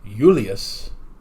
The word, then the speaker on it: Julius: So the actual pronunciation of Julius Caesar, since they didn't actually have a J sound, his first name would be Julius, and his last name would be Kaiser or Kaiser.